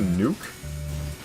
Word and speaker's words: Nook: It's the upgraded version of Nooks Cranny which I know is Do you know the pronunciation is actually Nuke? Cuz he's Tom. It's Tom Nuke like Tanuki. Tanuk.